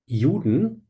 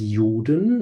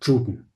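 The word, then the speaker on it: Juden: And the pronunciation of the word yuden is interesting as well because yuden is a very smooth word and it wouldn't fit well in this speech. So chaplain took the English word Jew and the German ending dun to mix them together and to pronounce it in a very sharp way.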